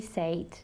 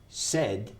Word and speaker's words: said: upset but when he said that I got even more upset yeah okay crazy more upset sure okay now just be careful saved no it's say said said think of this tengo sed this is how you